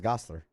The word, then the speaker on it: Gosselaar: launching with Mark Paul Gosselaar, or I guess I've never really known how to say his last name. Gosselaar? I thought it was Gosselaar. There you go.